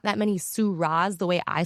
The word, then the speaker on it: Soo Ra: Hoorah for Soo Ra, kind of like the wine. It depends who I'm talking to. Old white person, it's like Syrah, the wine, A young black person,